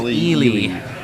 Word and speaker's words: Eli Kassis: His name has been pronounced so many different ways today, but it is Ely.